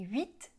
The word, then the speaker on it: huit: OK, alors les H des mots huile, huître et huit ne se prononcent pas.